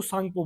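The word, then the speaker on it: Tsangpo: इसका जो यह टी है टी है वो क्या है? साइलेंट है तो इसको सांगपो बोलते हैं।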